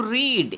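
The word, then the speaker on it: read: করছি আমি পাস্টে, আর রিড উচ্চারণ করছি আমি প্রেজেন্টে।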